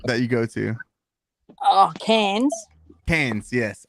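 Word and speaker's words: Cairns: you go to oh cans pans yes I always mispronounce it I'm always like Kearns okay no the people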